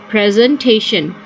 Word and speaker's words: presentation: Presentation. The S here will be pronounced with a Z voice. That would be presentation.